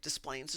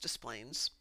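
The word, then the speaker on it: Des Plaines: If there's a letter there, we're going to say it. Displayplains is pronounced Displains.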